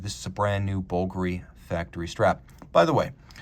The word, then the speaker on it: Bulgari: for the love of God don't try to pronounce it bger the proper trade name pronunciation is bulgary I say this because people make the mistake